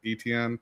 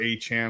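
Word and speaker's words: Etienne: since they they signed Travis ETN or Achan as he wants to pronounce.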